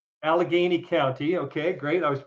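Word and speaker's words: Allegheny: groundbreaking study come out of Pennsylvania out of Alagany County I think it's called. It's the county in bit where I am. Yeah that's all right. How do you pronounce it then? Alagany Alageney County.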